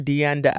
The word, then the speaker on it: Deanda: Did I pronounce the Deanna or Deanda? You can say it however you want. You can call me Paula D if you want. Paula D in the building. Yeah, but it's Paula Singer, Deanda.